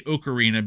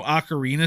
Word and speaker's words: ocarina: so we're aware I I used to say okarina because there were as I've explained to Ray on numerous occasions there were no Ocarina stores in Philadelphia so I didn't know how to say it and never once in the course of the game do they say it so I said